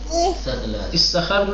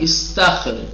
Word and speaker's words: استخر: استخر نہیں، استخر. کیا بولتے ہیں؟ صحیح تلفظ استخر است.